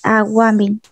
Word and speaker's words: Aguamill: Tal como se escucha agua. Sí. Mil, con doble L. M-I-L-L. Mil, Aguamil. Aguamil. Se pronuncia así, Aguamil.